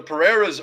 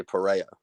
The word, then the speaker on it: Pereira: lot of pronunciations because I think Pere the pereiras are pronounced differently right I feel like sometimes they say Pereira and some times they say perea perea and then Pera yeah there there's three